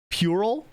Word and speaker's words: puerile: Puerile? It's pronounced puerile.